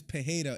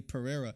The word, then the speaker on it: Pereira: pejeda because I know the right way is pajeda and I can't help but say Pereira because I had a friend growing up with that last name and I used to pronounce it like that Miller definitely saw that